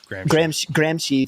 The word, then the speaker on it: Gramsci: Gramsci. I want to make sure that I'm pronouncing it. Gramsci, thank you.